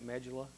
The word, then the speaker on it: medulla: new zealand same thing you can say medulla i have no problem with that i don't know where i picked up medulla just well i guess